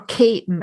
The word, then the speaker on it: Keating: called Dundrum in Tipperary, or Caton, as we say in Tipperary. It's spelled Keating, but we say Caton.